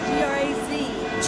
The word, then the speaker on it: Graz: How do you spell it? G-R-A-Z.